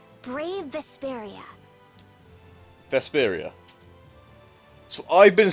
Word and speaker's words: Vesperia: the night sky the brightest star cool brave vesperia hmm I like it let's stick with that